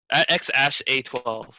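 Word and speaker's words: X Æ A-12: It'd be they finally released the name and it's X Ash 12, X Ash A12.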